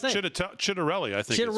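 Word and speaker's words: Ciattarelli: Can't pronounce his last name. Chitter Chitterelli, I think. Chitterelli, that's what it is.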